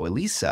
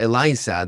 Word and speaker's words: Eliza: it name was Elisa Elisa I don't know how do you pronounce that is it with is with a z Eliza Elisa yeah Eliza much better names than